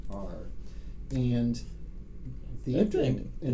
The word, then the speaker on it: Quaoar: And a dense ring around the trans-Neptunian object Quawar, Quawar. perhaps pronounced something like that, Quaoar.